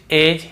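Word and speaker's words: edge: फिर देखिए हेज और वेज, यहां पर भी डी को हम नहीं पढ़ रहे हैं, ब्रिज, एज, हेज और वेज।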